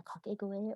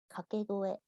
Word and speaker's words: kakegoe: I have an example here of a kakegoe or a ki-ai, which is known as sore, and sore means ready, let's go.